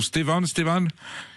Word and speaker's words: Stéphane: Bonjour Stéphane, c'est comme ça que je dois prononcer ou non? Stéphane? Oui, bonjour monsieur Vegas, oui, c'est comme ça Stéphane, oui.